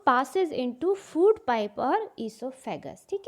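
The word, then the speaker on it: oesophagus: ओ से स्टार्ट होती है इसकी स्पेलिंग, बट ईसोफेगस बोलेंगे, ओइसोफेगस नहीं बोलेंगे।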